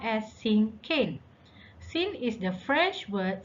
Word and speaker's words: cinquain: let's look at this the word thinking is pronounced as sin cain sin is the french word for five so